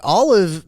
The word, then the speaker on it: OLLIV: buy from a friend peer-to-peer well I think Olive may have the answer the solution that you